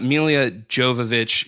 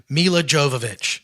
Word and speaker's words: Milla Jovovich: that bad there's no story like there's a Melia Jovovich she shows up in old age what you're that pronunciation but Jove Oh looky look look you